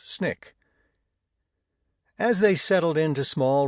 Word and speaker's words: SNCC: SNCC, pronounced SNIK. As they settled into small rural communities fighting for voting and other civil rights, these snick workers became the shock